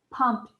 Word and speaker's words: pumped: has the ed spelling and it sounds like pumped pumped awesome job the truck was filled up